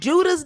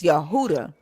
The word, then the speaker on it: Yehuda: I said Judah's dead ass um taught you how to pronounce this. And he was like it's not Judah because the J didn't exist. It's Yehuda.